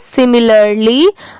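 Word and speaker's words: similarly: चलिए नेक्स्ट देखते हैं यह है सिमिलरली एस आई एम आई एल ए आर एल वाय इसे पढ़ेंगे सिमिलरली अ सैड मैन एस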